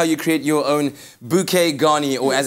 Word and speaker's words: bouquet garni: Well, there you go, and that's how you create your own bouquet garni, or as it's properly pronounced, bouquet garni.